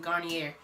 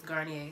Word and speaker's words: Garnier: And if I'm wrong, then I'm sorry, but I used to pronounce it Garnier. But I looked it up and I heard somebody else say it and it was Garnier. So I heard them say it on the commercial, so.